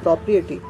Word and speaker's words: propriety: propriety spelling पे ध्यान दीजिए, PRIETY, ठीक है, प्रॉपर्टी नहीं है ये, ठीक है, this is नॉट प्रॉपर्टी, this is propriety.